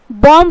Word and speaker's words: bomb: उसी तरीके से यहाँ पे क्या है, BOMB, तो क्या बोल देंगे, बॉम्ब बोल देंगे, क्या हो जाएगा, बॉम्ब। बट ये क्या है, बॉम्ब, क्योंकि बी जो है एम के बाद आया बी वो साइलेंट होगा, तो बॉम्ब।